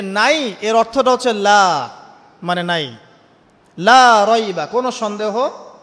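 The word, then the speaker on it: لَا: উপর কি মদ আছে লা এর উপরে কি মদ আছে না লাকে টানতে হবে না কি বলেন লাকে টানতে হবে না লাকে টানতে হবে লাকে টানতে হবে এই যে বলি আমরা লা ইলাহা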